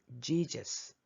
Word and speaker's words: Jesus: 미가의 영어 발음 Micah, 예수의 영어 발음 Jesus.